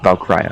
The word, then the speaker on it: Valkyria: Is it Valkyria or Valkyria? Valkyria.